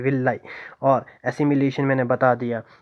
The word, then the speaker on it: villi: ठीक है, विलाई भी समझ आ गया होगा, स्पेलिंग है VILLI, VILLI, विलाई।